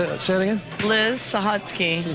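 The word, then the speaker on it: Sahutske: I am from hell what's your name Liz sahotsky say it again Liz sahotsky Can you spell that for us yeah yeah go ahead s-a-h-u-t-s-k-e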